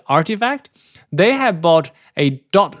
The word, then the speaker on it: RTFKT: web 3 firm which is the rtfkt which pronounces artifact they have bought a dot shush ethereum domain